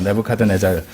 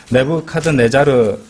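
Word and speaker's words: Nebuchadnezzar: 우리 한글 킹덤 러브한데 정확한 발음으로 내부 카드 내자르입니다 내부 카드 내자르 내부 카드 내자르 왕이 적그리스도의 예표가 되는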